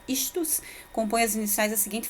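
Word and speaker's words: ἰχθύς: Daí que a palavra do peixe, ela é pronunciada istus, compõe as iniciais da seguinte frase: Jesus Cristo, de Deus, Filho, Salvador, tá?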